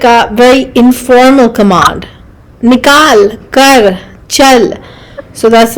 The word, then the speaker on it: निकाल: But there's a below, like it's nikal.